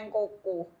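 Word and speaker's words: Nkawkaw: Nah ini namanya Nkoko. Jadi tulisannya itu NKAW. NKAW. Nkoko ya. Jadi bacanya harus pakai Nkoko.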